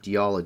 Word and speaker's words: Diyala: The Diyala Governorate is how it's pronounced.